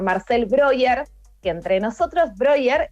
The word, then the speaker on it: Breuer: broyer que entre nosotros broyer es como se pronuncia el apellido brewer el lado tienes alguna